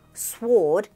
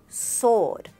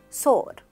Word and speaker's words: sword: Here in this word, the W is silent, so it's not sword, it's sword, sword.